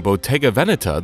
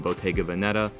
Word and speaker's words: Bottega Veneta: botega veneta people saying botega vanetta but for this video we've decided to stick with the original italian pronunciation from the beginning bottega's